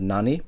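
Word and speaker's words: 何: not yet being said it's not being pronounced as nani it's being pronounced as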